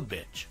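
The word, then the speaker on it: Bich: the company's founder, Marcel Bitch, decided to change the spelling of his last name from Bitch to BIC to ensure proper pronunciation and avoid it being misread as a vulgar word in English.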